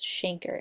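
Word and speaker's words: chancre: it is a painless shanker all right it looks like the word canker but it's actually pronounced shanker in this case and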